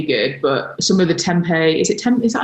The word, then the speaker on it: tempeh: But some of the tempeh, is that how you say it? Yeah, tempeh.